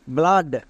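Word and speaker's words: blood: যদি ডি থাকে তখন ডবল ও এর জন্য আ সাউন্ড পড়বো মনে থাকবে ডবল ও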